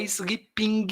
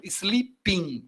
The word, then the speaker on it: sleeping: Eu não pronuncio esse G final, tá? Não é sleeping, não, tá? Ping é o ping-pong, né? Então, sleeping, o G some, não tá ali.